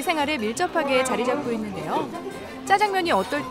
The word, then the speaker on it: 짜장면: 지금 공화춘이 있던 자리에는 내부 리모델링을 거쳐 짜장면의 역사를 한눈에 볼 수 있는 짜장면 박물관이 개관되어 운영되고 있습니다. 짜장면이라고 불리게 된 이유를 살펴보면 짜장면의 중국식 발음은 짜장미엔인데 짜장미엔은 짜장미엔에서 짜장면으로 발음하기 좋게 자연스레 변해왔습니다. 짜장면, 자장면.